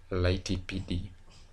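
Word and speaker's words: lighttpd: This is another name that has an issue on pronunciation. It is actually pronounced as LightPD.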